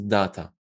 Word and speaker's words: data: But most people would say data. Like, you know the word day, like day, Monday, Tuesday? Data. I call it data.